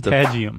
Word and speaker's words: patagium: a webbed membrane called a, how do you pronounce it? I don't know. Those are the wings. Patagium.